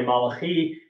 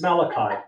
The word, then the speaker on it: Malachi: His name is Malachi. I pronounced it the Hebrew way Malachi, and he corrected me. No, it's Malachi.